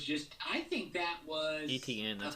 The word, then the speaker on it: Etienne: I think that was Etienne. That's how you pronounce it.